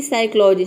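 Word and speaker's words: psychology: हैं प पढ़ते हैं लेकिन यहां आप देख सकते हैं कि साइकोलॉजी में प का साउंड नहीं है यहां पे डायरेक्ट स का साउंड आ गया है एस का मतलब कि पी लेटर यहां पे साइलेंट है साइकोटिक अगला है साइकोटिक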